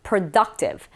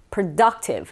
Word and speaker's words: productive: 뭔가 생산하는, 뭔가 결실이 있는 이런 느낌으로써 productive, 이 덕의 강세가 있습니다. productive, productive.